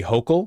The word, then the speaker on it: Hochul: Kathy Hochul? It's Hochul, not Hochul? Okay, gotcha. Hochul. Yeah. Makes more sense.